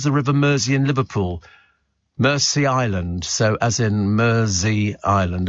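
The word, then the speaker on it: Mersea Island: but this Blum Island pronounced Mercy Island like Mercy Mercy Island says Lewis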